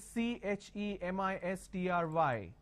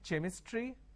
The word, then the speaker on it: chemistry: a word which is c h e m i s t r y can I say chemistry no the pronunciation is chemistry now here this is